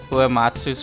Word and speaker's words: Uematsu: 8 is hands down the best work of Uematsu's career.